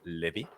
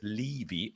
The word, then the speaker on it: Levy: of his name right it's not levy it's levi matthew levy welcome to today's show